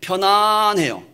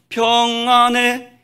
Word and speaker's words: 평안: 마시면서 텔레비전을 보고 있어요 편안해요 그러나 마음은 평안하지 않을 수가 있습니다 내 영혼 평안의 내 영혼 내 영혼 평안의 발음을 잘해야 돼요 내 영혼 편안해 이렇게 말하면 안 돼요 물론 광이적인 의미에서는 비슷한